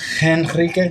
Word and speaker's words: Henrique: How do you say it in Brazil? How would you say it? Enrique. No, that'll be Henrique. Just like Enrique.